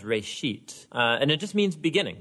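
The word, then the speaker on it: בראשית: of it's called Genesis Genesis comes from a Hebrew word it's pronounced rate sheet and it just means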